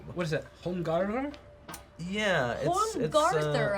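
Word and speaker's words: Holmgarðr: Yeah, Holmgarther. I think that funny D is pronounced like a th.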